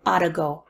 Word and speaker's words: ought to: modal verb a 2 a 2 has a really bad reduced pronunciation I ought to go I ought to go sounds a lot like oughta go I oughta I oughta